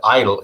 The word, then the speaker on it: EIDL: The reason that you pronounce it EIDL is because it just sits there and doesn't do anything.